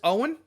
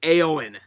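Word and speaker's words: Eoin: So the builder's name is Owen, but his name is spelled E-O-I-N. I thought it was looking at it, I thought it was Aowen.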